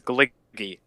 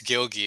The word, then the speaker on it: Gilgy: Because I always said it as Gliggy. I always thought your channel was Gliggy. it's Gilgy because it's my last name but shortened.